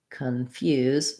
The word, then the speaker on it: confuse: and a yeah sound confused second syllable stress so again we have our schwa so that sounds like khan few confuse and then confusion when